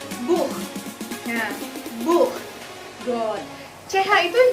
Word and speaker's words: Buch: Jadi bukan Buch dibacanya, tapi Buch.